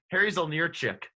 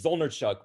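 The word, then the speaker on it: Zolnierczyk: oh this one's easy harry harry's on your chick oh it's zolner chuck but you're close enough yeah yeah he's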